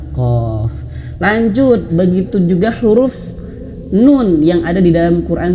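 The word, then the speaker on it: نون: Nah, dan ingat huruf nun itu dia ee memiliki cara bacanya itu dialirkan sedikit nun. En an. Nah, sedikit seperti itu ya. Jadi bukan hanya sekedar nun. Nah, tidak terputus suaranya tapi mengalir sedikit huruf nun itu ya.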